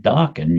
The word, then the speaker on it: Dokken: I'll call it Dokken, you know? Rhymes with rockin'.